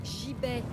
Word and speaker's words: gibet: Ça se dit gibet. Quoi? En fait, ça se prononce gibet.